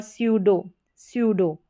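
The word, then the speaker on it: pseudo: स इसका उच्चारण। साइकोलॉजी, क्या है, साइकोलॉजी। और स्यूडो, इस तरीके से।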